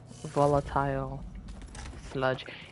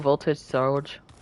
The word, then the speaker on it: volatile sludge: I only have 54 more volatile sludge. You know, I was calling them voltage surge, and Viola was like, that's not how you say it.